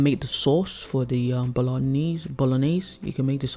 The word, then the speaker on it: bolognese: joke in our house he pronounces it as bolognese he can't he can't make the g silent he call me so bolognese nope nope you say bolognese and he's ten and i've